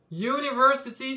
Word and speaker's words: university: Ici, on a un U, et le U, s'il se prononce U, dans ce cas-là, c'est un son consonne. On a bien dans le son Y, un J en phonétique, donc a university student.